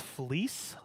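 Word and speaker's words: Vlies: is spelled VL IES it's pronounced fleece like a fleece sweatshirt it's basically I got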